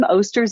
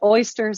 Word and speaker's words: Osters: So my last name, Osters, is very hard to pronounce. We talked about that earlier. Just people pronounce it oysters, osters, oysters I've gotten before.